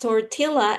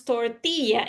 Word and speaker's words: tortilla: They assume they don't have that uh sound. Exactly. You just said it. They assume. I I'm telling you, you don't have to assume that because they don't have that sound incorporated in their language with double L.